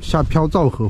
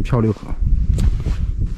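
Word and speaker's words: 飘皂河: 这里下飘皂河附近，哎，我老把这个读成漂流河，漂流读着顺口可能。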